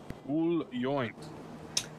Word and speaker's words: Yoint: yep you see the the proper way to pronounce the first and the last name is uh joint yup look here and